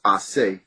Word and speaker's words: Ace: is, which is ACE is the first three letters, which is really supposed to be pronounced Ase.